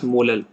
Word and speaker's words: molal: So its unit will be mole per kg, or it is also sometimes written as small m, which is pronounced as molal.